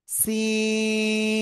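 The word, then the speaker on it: سين: আলিফ টেনে উচ্চারণ করবেন সিন সিন ডাইরেক্ট চীন যেন না বলেন চীন দেশ না ওই চীন দেশ হবে না সবাই জোরে জোরে একসাথে জোরে জোরে সে ওকে এবার দেখেন এই যে সিন অক্ষরটা না শব্দের শুরুতে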